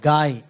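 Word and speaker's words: חי: नाम से बोलते हैं एक्चुअली वो सी एच ए आई ऐसा आता है मगर प्रोनाउंस जब हम करते हैं उसको गाय गाय का मतलब लाइफ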